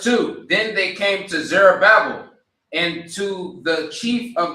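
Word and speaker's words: Zerubbabel: Verse two, then they came to, how do you pronounce it? Zerabel. All right. Verse two. Then they came to Zerabel and to the chief of the fathers and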